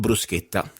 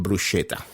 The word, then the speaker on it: bruschetta: simple but delicious recipe it's called brusketa normally uh in America they call it brushetta something like that but in Italian it's